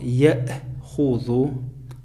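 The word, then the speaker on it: يأخذ: Алиф как бы мы не читаем, читаем только хамза, а над хамзой стоит сукун. Читается точно так же, как и алиф. То есть никаких изменений нету. Яхузу.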